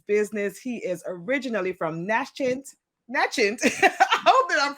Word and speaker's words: Natchez: It's Natchez, but it's all good.